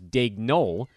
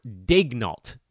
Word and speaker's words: Daigneault: I actually would have thought it was Daigneault, but apparently the T is pronounced. It's Mark Daigneault is the new head